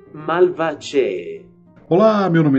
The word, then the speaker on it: Malvaceae: Pertence à família, o modo de se escrever isso é Malvaceae, mas a forma, a pronúncia correta é Malvaceae.